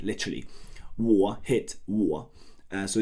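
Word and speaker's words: 我: It's pronounced war w war like we saw and it means I.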